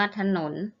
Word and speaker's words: ถนน: ฉลาด อ่าน ว่า ฉลาด และ ถนน อัน ว่า ถนน ถวาย อัน ว่า ถวาย ติด ตลาด อ่าน ว่า